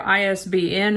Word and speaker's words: ISBN: in a phrase and they're pronounced as individual letters like fbi for the federal bureau of investigation isbn stands for international